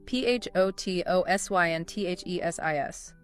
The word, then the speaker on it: photosynthesis: P H O T O S Y N T H E S I S. Photosynthesis. Photosynthesis. Stress on sin.